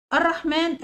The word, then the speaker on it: الرحمن: الرحمن الكريم، انهي كلمة فيها حرف ينطق ولا يكتب؟ عندنا الرحمن فيها حرف الالف، حرف الالف دوت بينطق ولا يكتب، يبقى هنعلم عليها.